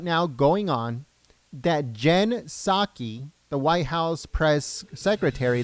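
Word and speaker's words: Psaki: this year so Jen pizaki or saki how some people are telling me that the p is silent um is said to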